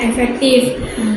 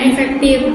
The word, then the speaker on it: efektif: Kata efektif itu seringkali diucapkan tanpa sadar, padahal kata yang benar adalah efektif, bukan efektif. Pada huruf akhirnya itu F, bukan P.